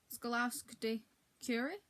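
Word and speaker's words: Skłodowska: Marie Scaluri.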